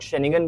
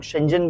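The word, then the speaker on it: Schengen: कुछ लोग शेंगन बोलते हैं, कुछ लोग शेंजन बोलते हैं, ठीक है।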